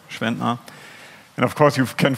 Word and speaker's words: Schwentner: That's Schwentner, or for the non-German native speaker, it's pronounced like this, Schwentner.